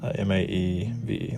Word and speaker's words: Maeve: That was nice, but I just needed to know how to pronounce it. Yeah, this would be proper then. M-A-E-V-E, like that.